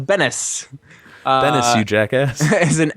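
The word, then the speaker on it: Benes: Perhaps Miss Benez can explain why Jerry Seinfeld signed for this package. But his mispronunciation of Bennis.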